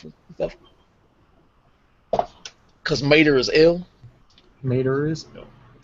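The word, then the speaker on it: Ilmater: that IL mat the Forgotten Realms pronounced ill Mater oh ill Mater was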